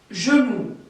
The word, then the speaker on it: genou: On doit mettre la bouche comme si on allait dire un O, d'accord? On doit faire un rond avec notre bouche, mais en réalité, on ne dit pas, on ne prononce jamais un O. On dit genou, le genou. C'est un E fermé.